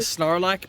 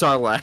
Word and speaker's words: Sarlacc: of teeth, like a Snarlack pit, that is surrounded in the 12 tentacles. Did you say Snorlack pit? How's it pronounced? It's just Sarlacc. Sarlacc pit. Snorlack sounds like a Pokemon.